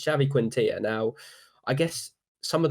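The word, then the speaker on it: Xavi Quintillà: "Who's that bumptious Scottish guy that keeps correcting pronunciations?" It's this guy. The Monopoly guy, and it's Xavi Quintilla.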